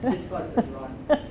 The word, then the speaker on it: Witwatersrand: Witwatersrand. Anyway, so I do speak German, so I normally pronounce it W-like-a-B.